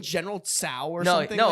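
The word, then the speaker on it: Tso: Yeah, he was saying General Tao's kitchen or General Tao's Chicken. chicken. Yeah, and- that's what he was saying. And then you guys were like, you know, that's not how you say it.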